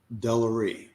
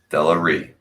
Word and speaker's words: DeLeRee: DeLeRee. DeLeRee. Yeah. There we go. Yeah. Yep. All right. There's no emphasis on the last syllable like that.